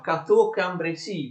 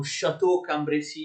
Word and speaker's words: Cateau-Cambrésis: Attenzione, la pace di Cateau-Cambrésis si pronuncia Cateau-Cambrésis, vedete C-A, ok? Non si pronuncia come alcuni fanno Chateau-Cambrésis.